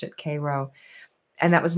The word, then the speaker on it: Cairo: It looks like it says Cairo, like Cairo, Egypt, but they pronounced it Cairo.